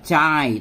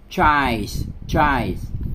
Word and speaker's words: chives: Oh sorry, đọc là chai, tức là chữ y ở đây á thì chúng ta đọc âm i, không phải đọc là âm y, thành ra chives.